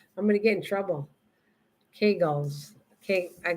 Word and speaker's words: Kegels: we're talking about this congeals kegels i say congeals and she says kegels it's kegels pronouncing it i don't say